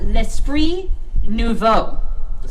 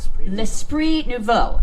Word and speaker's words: L'Esprit Nouveau: How do you pronounce it again? It's really... Okay, so it's called L'Esprit Nouveau. L'Esprit Nouveau.